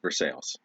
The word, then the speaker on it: Versailles: know like there's there's one place it's spelled versailles spelled versailles like the treaty of versailles everyone in that town calls it for sales period for sales pennsylvania um